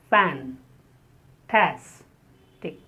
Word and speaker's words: fantastic: The first two syllables have a sound. Fan. Tas. Tick. And the stress is on the second syllable. Fantastic.